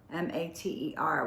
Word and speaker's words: mater: And so this word mother actually derives from the Latin word mater, M-A-T-E-R, which is pronounced mater, the root of the word matter, and symbolizes the physical creation and living substance of life itself.